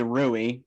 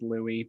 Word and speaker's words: Louis: thing they call louie rui lewis ruiz oh no his pronoun his name is supposed to be pronounced louis but i don't know like king louie yeah that that was